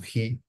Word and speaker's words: chi: es la prueba de chi cuadrado o de Ji con J, lo pueden llegar a encontrar escrito por ahí, porque esta letra griega se pronuncia como Ji, no se pronuncia bien.